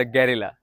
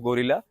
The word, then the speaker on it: Guerrilla: तो हमारे सामने आज है the talk of the town, the talk of the city, the गैरिला। हाँ जी, इसका नाम गैरिला है। इसको बहुत लोग गोरिल्ला, चिंपांजी, बंदर बहुत कुछ कह चुके हैं ऑलरेडी, लेकिन इसका नाम गैरिला है।